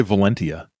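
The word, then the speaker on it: Valentia: then the valencia valencia it's spelled with a t which makes you want to say valencia but valencia i would say valencia i guess i was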